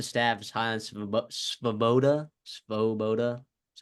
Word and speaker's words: Svoboda: Svoboda.